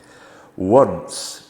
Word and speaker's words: once: Once has a soft C in it, so we don't say once, we just say the word one with a soft C in it, once.